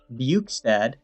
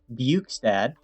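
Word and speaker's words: Bjugstad: i got jason zucker buchstad yes that's how you pronounce it buch's dad and mccann and even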